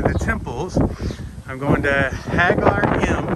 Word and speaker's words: Ħaġar Qim: I'm going to Ħaġar Qim. They don't pronounce the Q, but it's 100 meters.